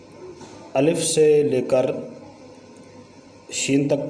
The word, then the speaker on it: الف: گے۔ الف، الف، الف، اس کو الیف نہیں پڑھیں گے، اس کا جو تلفظ ہے وہ ہے الف، الف۔ با، با، آپ